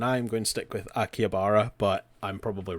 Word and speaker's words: Akihabara: he kind of gives her a tour of the Akabara. Akabara, yep. And then Yeah, I hear the pronunciation in a million different ways, and I'm going to stick with Akihabara, but I'm probably wrong.